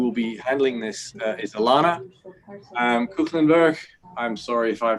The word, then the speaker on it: Ilana Koegelenberg: As Mark said, I'm Ilana Koegelenberg. That's how you pronounce it, so I can't really blame anyone for that.